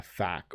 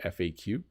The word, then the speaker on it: FAQ: the about page and a fact or FAQ um you can say it both ways by the way um